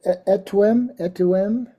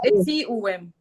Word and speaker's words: Eti Uwem: when Magdalena, was speaking, about what is it? Etuem. I don't know if I'm pronouncing it well, but Yes. I was Eti Uwem. Eti. Eti. Okay. The Eti is good. I'll write it. Eti is good. Uwem is life.